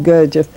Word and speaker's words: Gurdjieff: Gurdjieff? How do you pronounce it? Gurdjieff. Yeah. Gurdjieff.